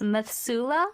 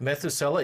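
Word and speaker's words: Methuselah: And two, I I don't know how to pronounce this. Methsula syndrome. Methusela.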